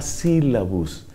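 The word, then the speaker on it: Syllabus: apretadísimamente, eso se llama sílabus. Ese es el sílabus de Pío IX. Sílabus se escribe S-Y-L-L-A-B-U-S, sílabus.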